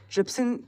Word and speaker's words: Trypsin: Trypsin rhymes with Pepsin, and has the same function i.e.